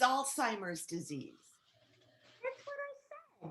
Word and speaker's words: Alzheimer's: And yes, it is a horrible disease, but it's Alzheimer's disease. That's what I said. No, you didn't. You said Alzheimer's with a T. There's no T in Alzheimer's.